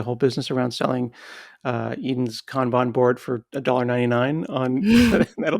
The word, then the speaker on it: Kanban: I just have like a chart of, I think it's like a, I don't want to mispronounce it. It's a Kanban board. Is that what Yeah, it's called? Kanban board. Yeah, that's right.